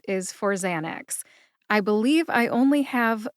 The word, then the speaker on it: Xanax: We don't cover pharmacology here, we just stick to the pronunciations. The generic name is Alprazolam, and the brand name is ZAN-aks.